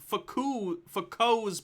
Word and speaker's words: Foucault: so checkmate globers d with goblin says it's pronounced foucault's pendulum which is also the title of a